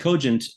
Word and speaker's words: cogent: But then later they used the word cogent, and they used the soft G, which is also derived from a Latin hard G-based word called cogere.